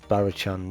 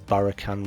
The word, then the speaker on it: Barachan: And this is the Barachan Reaver, or Barakan Reaver if you want to pronounce it like that.